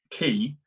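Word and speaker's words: quay: But the film key is spelled Q-U-A-Y, like a boat, like when you dock a boat. Yeah. But I looked at that, I was like, that's a Q. You say it key, but it starts with a Q.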